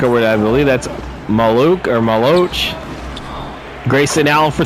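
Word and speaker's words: Maluach: So it's Maluch. That's how it's pronounced.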